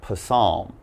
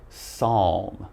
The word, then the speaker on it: Psalm: the next one here it's not Poisson all right now this we just say Psalm now Psalm is it's